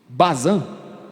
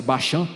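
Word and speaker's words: Bashan: e ela fala que na região de Bazan que na verdade a pronúncia bachan né Tem uma estrutura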